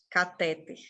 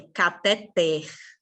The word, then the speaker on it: cateter: enfermeiros da saúde farmacêuticos a maioria vai falar cateter que é um negocinho que geralmente pessoas que têm câncer colocam né o cateter mas não é cateter é cateter cateter você já ouviram Essa